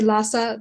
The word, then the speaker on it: Lhasa: asa so for example sasa is spelled with allah if you just say lhasa that's fine everybody will understand you no big deal but if you can say fa then go for it enjoy our next